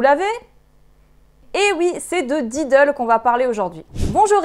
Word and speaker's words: Diddl: prononcer comme nom he mais en fait c'est didle comme Lidl mais avec un D ne me remerciez pas